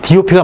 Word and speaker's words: DOP: G답, P답 이렇게 얘기하는데 이걸 왜 답이라고 읽는지 저는 이해가 잘 안 가요. DOP가 맞는 얘기입니다. 이걸 답이라고 읽으면 GPS라고 뭐하라 그래? 급쓰라 그러지. GIS는 기쓰라 그러고. 어쨌든 우리는 DOP라고 다 똑똑똑똑 떨어지게 발음해줘야 돼요.